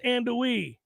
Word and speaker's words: andouille: How long is it going to take you guys to learn how to pronounce andouille?